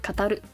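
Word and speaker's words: 語: And then you've got, it's kind of like 5 and a mouth. This is word or to tell, which is pronounced as go or kataru, katari.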